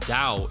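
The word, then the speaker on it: Tao: towels you can do pronounced Dao if you have a man bun Bruce advises striking with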